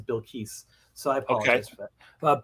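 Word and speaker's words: Bilquis: gonna pronounce her name i've been calling her bill quist for a long time and then i found out her name is bill keiss so i apologize for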